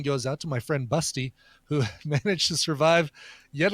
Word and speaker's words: Basti: Busty is the phonetic version for the German name Basti, B-A-S-T-I, but it's pronounced Busty.